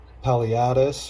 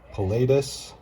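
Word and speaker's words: paleatus: Now cory fry, they hang out on the bottom, but peppered cories, the Paliatus or pilatus, however you prefer to pronounce them.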